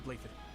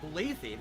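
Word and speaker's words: Blaiddyd: I am Blathid, Crown Prince of the Holy Kingdom of Fargus. Blathid? That's Blathid. Not Blathid.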